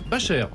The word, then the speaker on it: Bachet: Bachet ou Bacher ? Bacher. Bacher, faut pas dire. J'avais bien prononcé, mais oui.